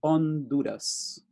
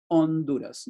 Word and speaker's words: Honduras: For those who know Spanish, you know that the H is silent. So in Spanish, it would go Honduras, Honduras, no H.